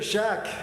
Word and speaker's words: Shak: It says here, Shak, long A, K at the end, yes, and a sibilant, Shak.